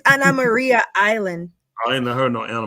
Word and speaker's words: Anna Maria Island: how did you pronounce it Dr you you pronounce it it's Anna Maria Island I Ain heard no Anna Maria Island that's